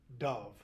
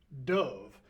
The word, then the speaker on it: dove: The word is dove, which is a type of bird. The other word is not pronounced dove, but it's pronounced dove.